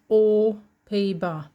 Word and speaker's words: aux Pays-Bas: J'habite aux Pays-Bas. You don't pronounce the X when it's followed by a consonant.